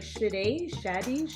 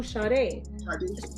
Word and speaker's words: Sadé: they, for some reason, they couldn't say Sade, and they would be like, Shade, Shade, and I'm like, no, Sade. Shady. And they just couldn't say it, even though it's two simple syllables.